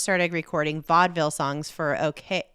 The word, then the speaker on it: OKeh: recording vaudeville songs for OK. I want to say OK. I think it's okay, but it's spelled very fun. It's spelled OKEH, but I'm just gonna go ahead and plow through with OK.